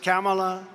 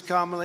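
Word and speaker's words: Kamala: it was an embarrassment camela sometimes referred to as kamla you she get about nine different ways of pronouncing the name and because the Press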